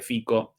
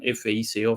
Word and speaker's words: Fico: Yo hasta ahora lo llamé siempre Fico. En castellano, bueno, la transliteración Fico, Fico, pero aparentemente en eslovaco la pronunciación correcta Fico.